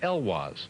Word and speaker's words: Heloise: No, it turns out the name is actually Heloise. Oh, Eloise. Heloise, I know but she that. pronounces it Elwaz. She pronounces it that way. Well, she says her parents pronounce it Elwaz.